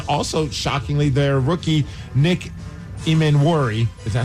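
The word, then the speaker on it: Emmanwori: And also, shockingly, their rookie, Nick Imenwori.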